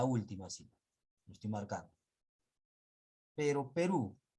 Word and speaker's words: Perú: cita estoy marca pero perú porque lleva tilde porque es una aguda la mayor fuerza de voz está en la última si la perú y